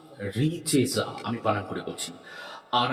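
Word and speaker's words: Richezza: তার জন্য আপনারা 51 দিন 51 বার করে উচ্চারণ করুন রিচেজা রিচেজা আমি বানান করে বলছি আর আই সি আর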